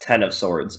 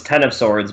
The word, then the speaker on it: X of Swords: Oh, pronounced Ten of Swords. Okay. Yeah, so it's Ten of Swords, but it's an X in the title.